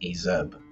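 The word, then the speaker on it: azap: were truly feared furthermore the ASAP pronounced azeb or bachelor's conscripted at youth forbidden to marry until the age of 40.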